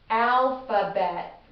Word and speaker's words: alphabet: Alphabet. Alphabet. How many syllables did you hear in there? Alphabet. 3 syllables. We're going to come across this quite a bit. The PH combo, making that F sound.